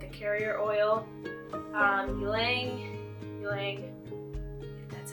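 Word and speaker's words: ylang-ylang: one but it's like a carrier oil um ylang ylang that's how you pronounce it and Clary Sage so I'll be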